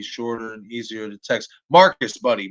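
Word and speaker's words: Marques: and easier to text marcus buddy marcus and it's spelled m-a-r-q-u-e-s it is pronounced m-a-r-c-u-s but it is spelled m-a-r-q-u-e yes it's different but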